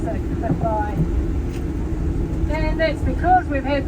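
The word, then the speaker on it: Cleddau: Okay, so Clify, the name of this valley is actually Welsh. It's spelled Cle, but you pronounce it Cliff Eye.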